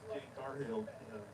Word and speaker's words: Jade Cargill: Yeah, I heard, how to pronounce her name? Jade Cargill, Jade Cargill.